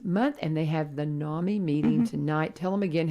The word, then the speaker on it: NAMI: Talking with Amy Lawrence, and she is with NAMI, Robertson County, or I say it again.